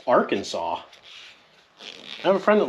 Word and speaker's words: Arkansas: The S in Illinois is silent for, you know, if you don't know that. And there's Kansas and Arkansas. Just kidding. It's not. It's Arkansas.